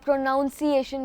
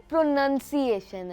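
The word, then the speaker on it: pronunciation: होती है जैसे कि बहुत सारे लोग इस वर्ड को भी मिस प्रोनाउंस कर जाते हैं जिस तरह प्रोनाउंस एशन बोल देते हैं इसकी प्रोनंसिएशन असल में प्रोनंसिएशन है प्रोनंसिएशन यानी उर्दू में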